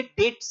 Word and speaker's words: debts: डेप्ट लिखते हैं डेट्स पढ़ते हैं ना, डी साइलेंट होता है जिसकी वजह से डेट्स पढ़ा जाएगा इसको।